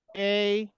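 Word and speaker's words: ä: लेकिन जब आ के साथ में उमलाउट आ जाएगा तो यह पढ़ेंगे समथिंग लाइक ए आप लोग ध्यान दे रहे हैं क्लाउड के साथ आएगा। मतलब ये डबल डॉट के साथ में जब आएगा तो प्रोनंसिएशन आ से ए जैसा हो जाएगा। ठीक है?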